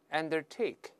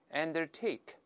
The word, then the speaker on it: undertake: 我们大声再读一下 undertake，注意重音在 take 这个音节上，在那边 undertake。